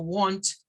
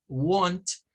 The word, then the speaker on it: want: caso del verbo wants algunos lo pronuncian más tirándole a una especie de a wons y otros la pronuncian más con el sonido de la o de la o recortada no No la o no es él sino want son las dos variantes pero cuando vamos a